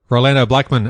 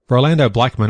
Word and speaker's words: Rolando Blackman: In other results, Rolando Blackman, another great friend of the show, almost implied,